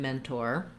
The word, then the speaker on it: mentor: The other thing is that we say a true T in mentor, even though often in the middle of a word, if the second syllable isn't stressed, we would say more of a flap or a D sound.